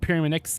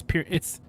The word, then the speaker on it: Pyraminx: Inks as in links. Oh, so Pyramix. Oh, so it's not Pyramix. It's Pyraminx.